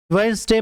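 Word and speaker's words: Wednesday: वेडनेसडे में D silent होता है, इसे वेडनेसडे नहीं पढ़ेंगे, वेडनेसडे पढ़ेंगे।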